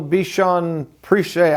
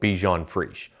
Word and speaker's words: Bichon Frise: Cavalier King Charles Spaniel Bichon Prichet. I can't pronounce it, but it's the cutest thing in the world. Actually, it's pronounced Cavalier King Charles Spaniel Bichon Frise, or a Cavajon for short.